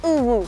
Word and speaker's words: UwU: Desde ahora se pronuncia Ubu.